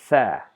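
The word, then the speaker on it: ثاء: So it is pronounced as tha, tha, tha.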